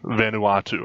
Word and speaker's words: Vanuatu: were talking about uh am I saying it right venatu or V how do you pronounce that where you travel say it again vanu watu Vanuatu okay and where is that